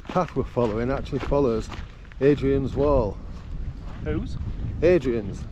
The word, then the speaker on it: Hadrian: we're following actually follows Adrian's wall who's Adrian's not Adrian I said Adrian silent h silent h silent h is Yorkshire Adrian's wall calls himself